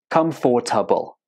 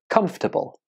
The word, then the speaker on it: comfortable: syllables does it have many students pronounce this word with four syllables comfortable but that's not how most native speakers say this word so listen to how I say this word comfortable comfortable how many syllables did you hear right only three this word has a silent syllable that's in expelling but when you speak it you don't say it so repeat after